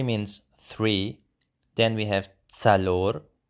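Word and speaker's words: څلور: Then we have tsalor. Be careful, the ts sound.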